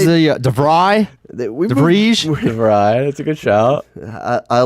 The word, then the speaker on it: De Vrij: De Vrij, that's a good shout. I like that you're getting some good Dutch pronunciation.